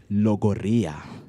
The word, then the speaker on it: logorrhea: So our word for today is logorrhea. Logorrhea. Sounded like people got Right. gonorrhea. Logorrhea, which is a noun.